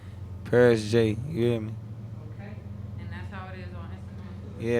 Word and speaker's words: Pearis J: father's side you know it's spelled different though you get can't forget the e is p-e-a-r-i-s-j paris j you hear me okay